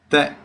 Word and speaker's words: Te: Your name is properly pronounced as Te. It means life. It's a Burmese name.